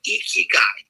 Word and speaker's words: ikigai: There's this Japanese concept called ikigai. It's spelled I-K-I, Ikigai, I-K-I-G-A-I.